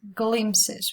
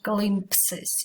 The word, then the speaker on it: glimpses: This word we pronounce glimpses. We don't pronounce the P. It's not glimpses. It's even hard to pronounce. If you try, it's just glimpses.